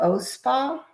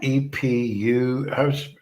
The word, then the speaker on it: Eau: The O Spa, that one? EPU. It's not, doesn't sound the way it looks how it's spelled. EAU, the O Spa.